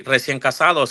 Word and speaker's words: recién casados: So you're supposed to say recién casados.